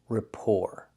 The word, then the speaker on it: rapport: Don't pronounce the t. It ends with the or sound. Rapport.